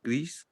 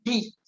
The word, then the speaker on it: gris: Y gris no se pronuncia la S. Ok, tu dis un peu gris.